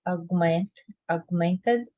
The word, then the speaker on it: augmented: You don't have to pronounce the G. It's like it's there, but it's not there. you know, augmented. You don't pronounce G, you know?